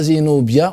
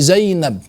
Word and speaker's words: Zainab: la prononciation arabe donc on dit pas zinobia on dit Zainab au final zaïab n'est